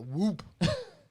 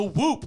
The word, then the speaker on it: Whoop: Do you think the NBA is pushing it because it rhymes with hoop?